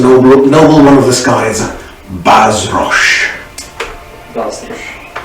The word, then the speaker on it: Bazrosh: It says noble one of the skies, Bazrosh. That's B-A-Z-R-O-S-H. Bazrosh. Wait, how did you spell that?